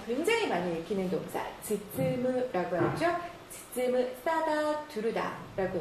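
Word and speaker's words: 包む: 딱 봤을 때 뭐라고 읽는지 아시겠어요? 자, 굉장히 많이 읽히는 동사. 즈쯔무라고 하죠.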